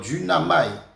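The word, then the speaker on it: δύναμαι: là et c'est euh duamaï d'une qui prononcé comme du naï qui est de U n a m a I donc du namaï qui signifie être capable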